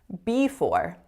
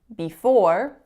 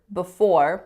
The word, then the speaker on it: before: have when I said B for B for actually the stress should be on the for not the beasts would be before or you'll also hear before with a schwa on that first syllable the third word that